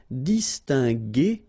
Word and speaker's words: distinguer: So that's the reason why we've got here G, okay? Because combination of E and R at the end will give you the sound E, okay? G. So that's the reason why we pronounce it distinguer and not distinguer, okay? So U is quite important here, just to give you the sound G, G, G.